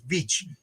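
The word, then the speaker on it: Veitch: I've been saying his name wrong for 50 years. Vich Vich Vicha made him into a uh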